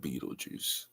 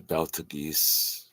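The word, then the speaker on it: Betelgeuse: That one's called Beetlejuice. But to my eyes, pronunciation, and reading and comprehension, I've always thought it a Beltagese.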